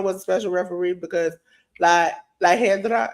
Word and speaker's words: La Hiedra: Iguana was a special referee because La Hedra, is that how you pronounce it? Yeah, that's right.